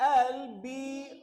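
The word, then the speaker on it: elbow: pain in माय एल्बो तो बेटा चलो इसे प्रोनाउंस करते हैं ई एल बी O double एल्बो एल ब मत बोल देना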